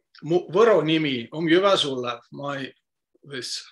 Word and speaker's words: Võro: And Janek also explained to you how to pronounce this word vowel with a wave on O, and it is ö, võro, but now you see